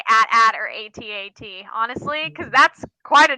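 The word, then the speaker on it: AT-AT: last few days um I say atat but I'm aware that it's technically at at I think I say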